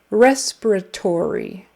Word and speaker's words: respiratory: your accents are correct respiratory so it's on the first syllable and then the fourth